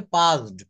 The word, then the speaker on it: passed: হুম এই যে দেখেন এখানে করিম হ্যাজ পাস্ট, এটা উচ্চারণ হবে পাসড, PASSED, পাস মানে But পাস করা।